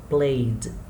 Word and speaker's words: played: So, for example, the first one, we pronounce played. Yeah, like we saw before, no need to pronounce the letter E. So, played. It's a D sound, so it's column number 1.